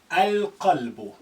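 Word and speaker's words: القلب: Al-qalbu. Al-qalbu. That's a moon letter.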